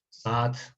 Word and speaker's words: saat: excepción, realmente es porque es una palabra árabe y que tiene una pronunciación un poquito diferente. Entonces, pero no se preocupen por la pronunciación, realmente. Saat sería eso, Saat.